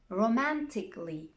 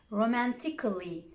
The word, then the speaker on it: romantically: basically logically practically surgically romantically so i'm not pronouncing romantically surgically cut the a out get rid of it but be careful because